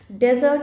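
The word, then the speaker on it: desert: Next word is डेजर्ट एंड डिज़र्ट. तो यहाँ पे थोड़ा सा प्रोनाउंसिएशन में भी हल्का सा फ़र्क है.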